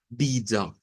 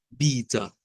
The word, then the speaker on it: vida: A, pero en portugués la entonación de esta palabra es diferente, puesto que la sílaba tónica es la primera, bi, y esta va a sonar a da, vida, vida.